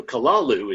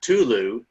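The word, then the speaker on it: Cthulhu: So, Kalalu is how we're supposed to pronounce it, but like a speed metal band, something like Kalu, you know, something like that. Uh, other variations of of his name go Tulu as in the mound, Clulu and the winged death,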